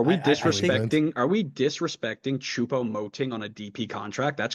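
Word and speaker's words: Choupo-Moting: do you say his name again Cho moting chupo moting yeah so yeah yeah the money was wild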